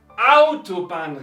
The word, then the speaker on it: Autobahn: En la primera sílaba, que sería Autobahn, Raststätten, Klo, Putz, Chef. Entonces, no importa cuántas sílabas tiene una palabra en alemán, si es una palabra normal, una palabra compuesta, siempre se pronuncia en la primera sílaba.